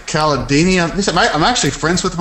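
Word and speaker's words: Cialdini: Hey, I know everybody pronounces his name differently. What is it? Robert? The Caladini, Kilodani, Candelabra. Yeah, I say Caladini.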